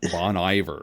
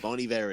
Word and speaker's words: Bon Iver: up okay so that I was I was pronouncing it wrong I said Bon Bon Iver I someone else that's what you would think yeah so yeah bony ver is Justin Vernon so Bon ver is means